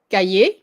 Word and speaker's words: cahier: So that, because usually the C, you would pronounce it more like a K in front of certain vowels. Like if it's in front of like, let's say this word. Cahier. So it sounds like a K, right?